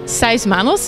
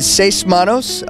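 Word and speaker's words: Seis Manos: of help and Netflix is coming up with sighs mammals if I pronounced it correctly can you tell us a bit more about that like what it's about and your character kiss kisses yeah very good say smanos which means six hands in Spanish the series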